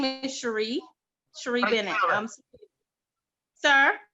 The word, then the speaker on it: Cherie: okay and what's your name my name is sheree sheree bennett sir how do you spell that c-h-e-r-i-e okay all right and and and cherie i